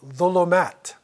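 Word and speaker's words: ظلمات: You might say zalam in Urdu or zulm, right? It's pronounced in some other languages, Turkish too. They might say zulm, right? But it's really dha, right?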